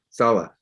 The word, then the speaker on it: Saleh: I thought you pronounced it Rob Saleh. Okay, Saleh.